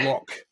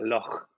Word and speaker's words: Loch: my roots, because obviously nobody in the world can pronounce Loch like a Scots person. It's Loch, isn't it, for the vast majority? Let me give it a try. Loch.